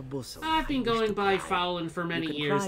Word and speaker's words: Faolan: I just pronounce it Faolan. It's Irish Faolan.